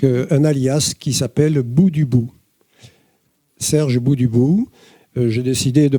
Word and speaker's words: Dubout: Euh toutefois, je le précise, euh je suis donc sur Facebook avec un allias qui s'appelle Bou du bout, Serge Bouubout.